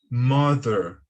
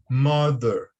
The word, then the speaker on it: mother: E a pronúncia correta é mother, mother, mother, ok? Note que o som do TH aqui, ele parece com o som do D, tá bom?